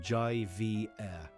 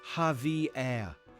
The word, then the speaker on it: Javier: had a student named Javier. On the first day, she read the role and called him Jai Vair. He politely corrected her. It's Javier.